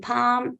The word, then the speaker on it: palm: a l m okay whenever you have a l m then it gives R sound as in calm as in Palm as in bomb so R is coming